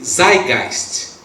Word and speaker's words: Zeitgeist: É uma palavra que diz assim, pronuncia assim, Zeitgeist.